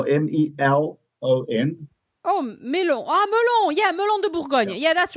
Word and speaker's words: Melon de Bourgogne: So, spell that. Me. M-E-L-O-N. M-E-R? No, M-E-L-O-N. Oh, Melon. Melon. Yeah, Melon de Bourgogne.